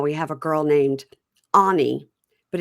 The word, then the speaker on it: Any: girl named Anie, but it's spelled any a n y like any day of the week. I've seen that. I don't know if it was a character in a book or something like that, but I I've seen that before. But it's anie. A n y. And so I now I just write it a h nee. So that I'll say anie.